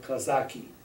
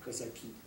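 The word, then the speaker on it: Казаки: Tolstoy's early novel called Kazaki, or Kazaki.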